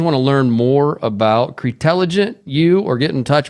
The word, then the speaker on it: CREtelligent: spelled cre intelligent t-e-l-l-i-g-e-n-t so just like it sounds cretelligent Anthony thanks for coming